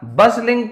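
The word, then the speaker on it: bustling: Once एक बार इन अ बसलिंग town. अब ये बसलिंग क्या होता है? टी को तो मैं यहां पे पढ़ ही नहीं रहा हूं। तो यहां पे टी साइलेंट है।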